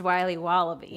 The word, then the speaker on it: Wiley Wallaby: Wiley's wallabies wallaby Wally's will be wobba beats pronounced Wiley wallaby well it's very good called Wiley wallaby and